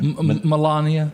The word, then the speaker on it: Melania: I did read a thing to where, how do you pronounce his wife's name? Melania? Melania.